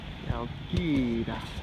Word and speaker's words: Chalkida: Alright, so this is Chalkida with C-H, C, something. Meow! But it's pronounced Chalkida, famous small bridge.